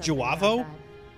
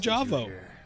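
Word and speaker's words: J'avo: creating us jawo yeah I heard it's pronounced jaav I've been saying jao maybe you could put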